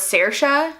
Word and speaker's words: Saoirse: But you could spell it Sersha, and it just means, it means freedom as well.